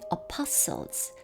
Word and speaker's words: apostles: apostles, 강세 apostles 두 번째 음절에 있고요. 또 어떤 사람들은 prophets, ph가 여기서는 f 발음입니다.